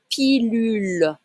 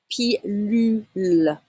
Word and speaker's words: pilule: Une pilule. Pilule. Okay, you need to say U sound, pas OU.